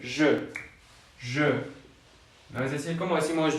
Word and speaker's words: je: Es como la Y. Si tú la Y la pronuncias como Y, por ejemplo, yo me llamo Jordi o yo me llamo bla bla bla, sí es como tu Y. Pero, por ejemplo, en nuestro caso, en México, esta Y no existe. ¿Ok? Nosotros no tenemos esta pronunciación de Y, ¿no? Pero sí es esa Y de je.